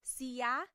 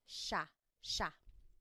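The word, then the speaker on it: siya: And again, just to point out the pronunciation, it looks like it should be pronounced sa, but it's usually pronounced sha sha.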